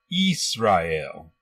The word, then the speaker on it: Israel: In the Greek Septuagent, the name Israel was written like this and is pronounced Israel. It is not Yasha.